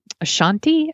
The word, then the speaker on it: Ashanti: slower hip hop songs with like J-Lo or Ashanti, I think is how you pronounce her name, you know, and it's just like, what's my name?